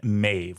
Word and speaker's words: Medb: This is a mighty king and a mighty queen, Queen Medb, which in mine is spelled m e d b. So, this is one of those examples of the b being a v sound.